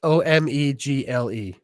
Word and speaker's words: Omegle: So, back to this oming uh oming thing. Probably pronouncing it wrong. I'm always messed up. U But so it's it's O M E G L E.